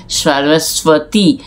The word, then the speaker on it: সরস্বতী: তয় দীর্ঘ তাহলে সরস্বতী ইংরেজিতে বলা হয় সরস্বতী স্বয়তি যখন বলা হচ্ছে তখন এই ব টা এই ব টা বাংলায় সাইলেন্ট ব এটা উচ্চারিত হয় না আর সরস্বতী হচ্ছেন বিনা